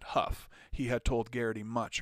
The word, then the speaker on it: Hough: skeleton named george fielder bill hugh pronounced that huff he had told garrity